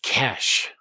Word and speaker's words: Kes: person my name is KES it's one syllable how hard is it